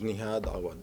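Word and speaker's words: Nihad Awad: My name is Neha Dawa, Nihadawad, the National Executive Director of CAIR, the Council on American Islamic Relations.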